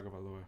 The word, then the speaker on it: Tua Tagovailoa: Joe Burrow with 25.6, or 26.6, and then Tua Tagovailoa. Is that how you pronounce it? Tua Tagovailoa.